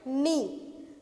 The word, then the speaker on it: knee: We will pronounce it knee. हम K नहीं बोलते हैं, हम सिर्फ क्या बोलते हैं, we just say knee, है ना.